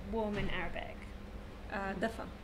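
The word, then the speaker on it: دافئ: Dafa. Dafa.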